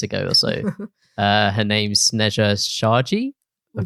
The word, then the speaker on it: Sneja: you lot butchered 5 letters. But yeah, my name's Sneja.